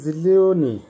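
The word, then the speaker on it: зелёный: জিলিওনি, জিলিওনির অর্থ হবে সবুজ, উচ্চারণ হবে জিলিওনি।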